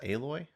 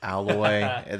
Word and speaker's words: Aloy: Is that how it's pronounced? Aloy? Aloy. Yeah. Weird. Yeah. Okay. What did you think it was? I don't know. Aloha, Alloy.